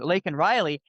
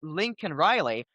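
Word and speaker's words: Laken Riley: to say her name, Lake Riley, he said it wrong. Instead, he said Lincoln Riley.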